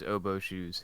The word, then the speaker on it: oboeshoes: It is, of course, I actually just realized I never actually asked how you pronounce this. Is it oboeshoes? Yes, it is oboeshoes.